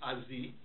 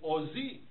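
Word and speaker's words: עָזִּי: So, for example, ozi. Ozi, let's say you're a modern Israeli, you do not say azi, you say ozi.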